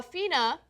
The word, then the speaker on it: FINA: range causing the discoloration the uh is it Fina am I pronouncing it right yes it's the International Swimming